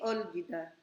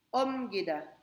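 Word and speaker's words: 옮기다: L yung pangalawa kaya ang basa dito ay hindi ol gida silent l OM gida Sorry OM gida Okay so Yun po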